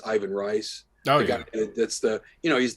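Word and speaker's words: Ivan Reis: books and that's uh it's it's pronounced Yvonne race but it's Ivan rice that's the you know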